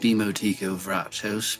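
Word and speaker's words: Dimo Tico Vrachos: It's actually pronounced Demo Tico Vrachos, but you can call me Demo.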